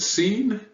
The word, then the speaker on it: scene: Seen and scene. Scene, spelled with that silent C, S-C-E-N-E, is a noun for a sequence of action in a story or the place where something happened.